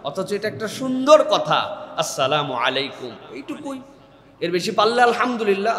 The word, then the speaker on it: আসসালামু আলাইকুম: আসসালামু আলাইকুম, সুন্দর না শুনতে? বিরাট বিরাট লোকজন দেখবেন এরকম করে সালাম দেয়, সালামালাইকুম, সালামালাইকুম, আসসালামু আলাইকুম।